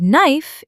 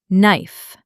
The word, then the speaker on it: knife: And knife is just knife. The K is silent too.